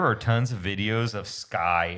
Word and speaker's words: SCCY: Guys, there are tons of videos of Sky. It's spelled SCCY, praising these guns.